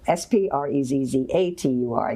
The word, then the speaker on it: sprezzatura: And I'll just spell it. It's S-P-R-E-Z-Z-U-T-U-R-A. No, S-P-R-E-Z-Z-A-T-U-R-A, sprezzatura.